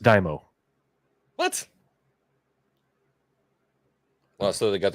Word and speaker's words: daimyo: It's pronounced Daimo.